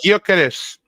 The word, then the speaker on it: Gyökeres: It's Victor Gyökeres.